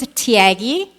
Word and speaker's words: Thiaggi: good okay awesome so my name is thiaggi it rhymes with Mr Miyagi from Karate Kid I'm the CEO and